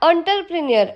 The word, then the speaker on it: entrepreneur: Pronunciation उसका एंटरप्रेन्योर ऐसा है, उद्यमी इसका मतलब होता है, राइट। लेकिन स्पेलिंग पूरी तरह से अलग है, स्पेलिंग ई से स्टार्ट होता है।